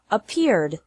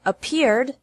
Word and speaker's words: appeared: past of appear is appeared appear has two syllables and appeared also has two syllables don't pronounce it a